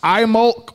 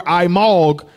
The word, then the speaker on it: Imbolc: Imbolc or Imbolc, pronounced Imolc or Imolg, is to celebrate the beginning of spring on sunset on January 31st through February 1st.